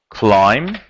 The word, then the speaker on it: climb: cast we have climb climb B is silent okay the past form